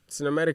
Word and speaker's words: Sinnamatic: Sinnamatic comes from the word cinematic, like CINE. But you spell it matic. S-I-N. I spell it SIN Yeah.